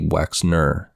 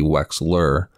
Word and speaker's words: Wexner: of jeffrey epstein's was leslie wexner not leslie wexler like i called him